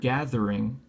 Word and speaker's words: gathering: But the word gathering, like Magic the Gathering, that's a voiced TH.